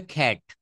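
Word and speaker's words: cat: কে কিউ মনে রাখবেন সি কে কিউ এই তিনটা জায়গায় আমরা ক বলবো না আমরা সর্বদা খ বলবো কি বলব খ যেমন সি এটি আমরা বাঙালিরা এটা বলি ক্যাট সি এটি ক্যাট নো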